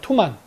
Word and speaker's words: 투만: 원 발음은 투만입니다.